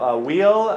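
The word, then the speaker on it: Weyl: One thing that happens is there's this guy, Wheel, I believe his name is pronounced W-I-L.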